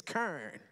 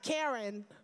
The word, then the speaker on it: Karen: down south is that y'all would just wipe an entire syllable out of my name. Now, I know some of you know what I'm talking about. You know my name here is Kern. Not Karen, but Kern.